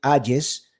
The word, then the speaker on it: Hayes: Alejandro Hayes, o sea, se escribe con H, Hayes, e Y, Hayes, se pronuncia Hayes.